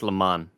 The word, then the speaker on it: Le Mans: It's spelled like Lee and then Mans. Yeah. But it's Le Mans.